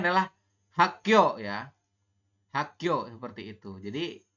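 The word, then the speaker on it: 학교: Ini dibacanya adalah Hakyo ya.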